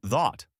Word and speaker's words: thought: Though and although have the ow sound like boat, while thought has the aw sound like bought.